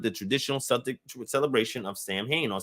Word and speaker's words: Samhain: were combined with the traditional subject celebration of samhain or sauween the first was for for ferralia a day